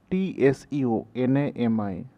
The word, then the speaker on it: tsunami: T is silent, TSUNAMI, tsunami.